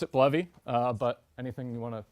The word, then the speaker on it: Bleve: bloody what is this I thought it was pronounced believe and I've ever lie would say 50/50 people I run into pronounce it bloody or believe I pronounce it bloody but anything you want to pronounce it is